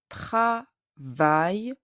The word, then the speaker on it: travaille: Elle travaille dans un collège. When you read the letters A, I, L, L, E, you pronounce I. Travaille, I.